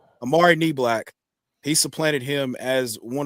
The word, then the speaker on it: Niblack: Amari Niblack. Amari Niblack.